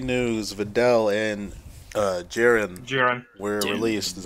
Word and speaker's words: Videl: It is Videl. Yeah, it just his pronunciation is weird.